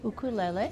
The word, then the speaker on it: ukulele: In Hawaii, it's part of the culture, so I grew up playing the ukulele. And we pronounce it ukulele.